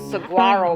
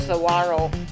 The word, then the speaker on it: Saguaro: where it's um i thought it was called saguaro but it's actually pronounced saguaro national park and it's one of the very